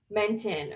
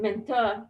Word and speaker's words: Menton: So me and my friend Priya and my boyfriend, we went to this fancy restaurant called Menton, or as my friend pronounces it, Menta, which sounds like the rich just like spitting on the middle class.